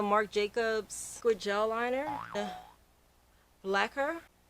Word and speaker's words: Blaquer: It's the Marc Jacobs Squid Gel Liner, Blaquer. And it's spelled like lacquer, black whore, like that.